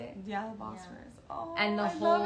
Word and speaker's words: Bosphorus: Yeah, the Bosphorus.